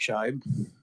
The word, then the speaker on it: Scheib: Mr John appreciate it Scheib hopefully I'm pronouncing that correctly with Heartland Rural Electric corporations chairman and committee uh my name is shivy I'm the chief executive